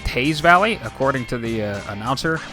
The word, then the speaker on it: Teays Valley: for playoff football so uh big win over teas Valley act and I apparently it's pronounced Taz Valley according to the uh announcer at the game